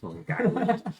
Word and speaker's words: Long Island: Long Island and see I know how to pronounce it Long Island longland and uh so if you're in Long Island